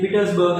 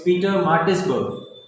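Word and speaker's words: Pietermaritzburg: You said Petersburg and it's Peter Martinsburg. Maritzburg.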